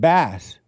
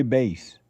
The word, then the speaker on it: Bass: automated texttospech programs to mistakenly say bass like the fish simply because they see the spelling and assume literal pronunciation.